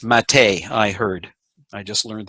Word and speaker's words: MATE: the old genome it's spelled mate but it's pronounced Mattei I heard I just learned that the other